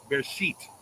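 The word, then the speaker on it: Bereshit: It's actually supposed to be pronounced in Hebrew. It's bear sheet.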